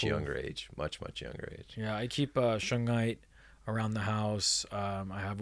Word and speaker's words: shungite: keep Shug Knight? No, shungite.